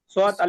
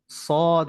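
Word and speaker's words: صاد: শিন হা ইয়া দাল, নুন নুন শিন হা দাল, ফা আলিফ হা শিন, সোয়াত আলিফ সদ, দাল কফ, হ্যাঁ। সদ হবে, সদ সোজা করে।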